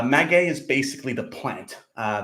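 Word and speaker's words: maguey: 100% M uh no it's not pronounced myy it's m uh magay is basically the plant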